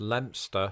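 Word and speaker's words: Leicester: two things number one this English town is pronounced lster and number two Linguistics undoubtedly has a word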